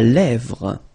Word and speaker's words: lèvre: La lèvre. Remember, accent grave here. E, really open.